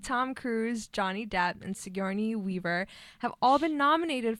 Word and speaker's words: Sigourney: Sigourney Weaver. Did I pronounce it right? No. Sigourney? Sigourney.